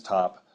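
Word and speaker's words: ⊤: Uh we will assign x this special value here which is pronounced top if x is not a constant.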